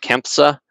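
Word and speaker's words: CANFSA: Bit of a mouthful, but KEMPSA is how you say it, that acronym, which was not exclusively aerospace focused, but it had heavy aerospace involvement from some of the membership.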